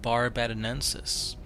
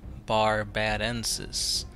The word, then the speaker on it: barbadensis: the lone demon of barbadensis I believe that's how you pronounce it VAR b ID and sis bar bad Ensis barbadensis but anyway guys if